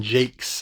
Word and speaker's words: Jacques: It's Brian Jakes, I believe. It's actually how you're supposed to pronounce it, not Jacques. I always said Jacques, but I think it's Jakes.